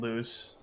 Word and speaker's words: Luz: Yeah, how do you pronounce Amity It's and the Luz? Barbie meme, but it's Amity and Luce. Yeah, Amity and Luz. Yeah, so it's Amity as Barbie and Luce as Ken.